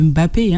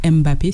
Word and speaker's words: Mbappé: Bon après c'est comme les le M de Mbappé hein. Les gens aiment dire Mbappé c'est Mbappé. Donc là il y a N tanquim c'est une TIM c'est un village au Cameroun.